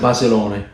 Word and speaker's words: Basilone: You pronounce it Basilone. Yeah. I pronounce it Basilone.